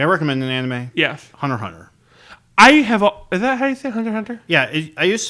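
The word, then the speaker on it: Hunter × Hunter: recommend an anime yes hunter hunter I have yeah I used to browse it like the way it's spelled hunter x hunter apparently that's a silence which one do i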